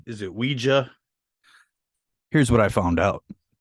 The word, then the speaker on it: Ouija: In the UK, it is Ouija is the correct term for it. So it's Ouija board. So the United States, it's pronounced Ouija by definition. Yeah, so I guess they're both correct.